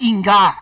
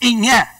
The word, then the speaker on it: Inge: It was very popular, not Inga, it's Inge, pronounced correctly, I-N-G-E.